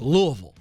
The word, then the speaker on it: Louisville: I'm from the south it's Louisville this is all one kind of word there it's not even a syllable it's just Louisville we'll see what Jennifer